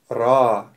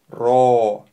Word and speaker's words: ر: основная часть под строчкой Давайте правильно произнес эту букву ра ра ра не нужно делать губы трубочкой о вытягивать ро нет правильно произносить ра буква ра путает с